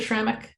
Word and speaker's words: Schrammick: Am I pronouncing your name right, Mr. Schrammick?